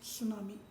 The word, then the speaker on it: tsunami: teacher थे students आज हमारे न्यूरॉन इज द सुनामी के बारे में स्टडी करेंगे वहां पर चुनाव में की स्पेलिंग है मिट्टी से स्टार्ट हो रही है